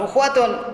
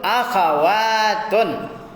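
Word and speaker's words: أخوات: Bukan ukhwatun, akhawatun. Kasih harakat. Uskul. Kasih harakat. Mana uskul? Kasih harakat. Apa harakatnya? Akhawatun, bukan ukhuwah, ya.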